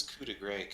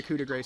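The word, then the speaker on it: coup de grâce: Yeah, so they're running away, so it's not like a coup de grace situation. Coup de grace, whatever. Gra is the appropriate pronunciation. Which I did not do.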